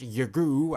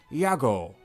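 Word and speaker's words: YAGOO: it to be pronounced Yagu, as in shoot Yagu my dude, it is pronounced Yago, as in, you spin my head right round when you go down, down.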